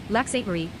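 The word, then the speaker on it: Lac-Sainte-Marie: Lac Sainte Marie, French pronunciation, Lac Sainte Marie, is a municipality in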